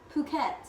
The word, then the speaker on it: Phuket: And how do you pronounce it? Phuket.